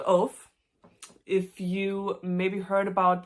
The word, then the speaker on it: Ove: and told me that it's pronounced Uwe, which, okay, I can see that because in Germany we also have many men named Uwe. But I like Ove, so I'm gonna keep saying Ove.